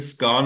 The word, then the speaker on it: scone: all the time because she would say it's a scone, and I'd say, no, it's not a scone, it's a scone. It's spelled with an O.